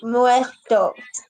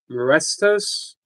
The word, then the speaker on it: muertos: You're saying it wrong. It's muertos. So say the whole thing again. Muertos. Morestos? No, muertos.